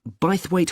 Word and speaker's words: Bythwaite: free and the show is being held in bythwaite hall sorry how'd you spell that b y t h w a i